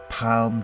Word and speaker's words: palm: I can assure you you do pronounce the L it's very soft but it is there palm tree there are around